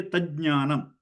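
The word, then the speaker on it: तज्ज्ञानम्: So if you are making this word, then you have to say tajnanam. So the stressing on the ja should be there to indicate that there's a double ja.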